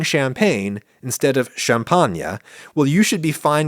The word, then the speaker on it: champagne: You don't expect me to pronounce champagne "shampanya", even though that's how people in said wine region of Northeastern France actually pronounce it.